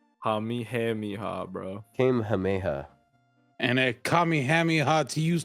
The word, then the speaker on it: Kamehameha: trying to say Kamihamiha. Hamihamiha, bro. Kamehameha.